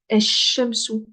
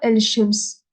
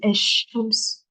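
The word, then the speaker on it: الشمس: Esh-shamsu, esh-shamsu, es-sabab, et-talibu, et-talibu. Voilà, en fait, je prononce pas le lemme, je dis pas El Shems. Le El Shems, je le dis pas, je dis Esh Shems.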